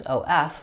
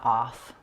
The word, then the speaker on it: of: The word of is spelled with letters OF, but the sounds are v, of. Make sure you say of, not off.